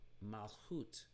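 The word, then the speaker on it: מלכות: We also have malchut, malchut. So we have the ut sound at the end, malchut, coming from melek, which is king.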